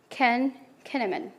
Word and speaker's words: Kahneman: Maybe I pronounced it wrong. Let me correct it. Daniel Kahneman.